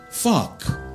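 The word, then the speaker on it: phoque: The other thing you need to know, if anyone speaks French, is that the French word for seal is P-H-O-G-U-E, but it's pronounced fuck.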